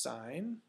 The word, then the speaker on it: sine: Looks like sin, it's pronounced sine.